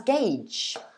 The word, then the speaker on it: gauge: a long journey ahead so yeah that was gage yeah a bit confusing because of the spelling but yeah quite easy to pronounce once you know how it is pronounced